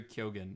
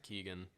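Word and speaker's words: Keoghan: the same with barry kyogen i don't get it i don't understand i think it's pronounced keegan oh i don't understand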